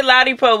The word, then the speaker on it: Ladipoe: Ladipoe.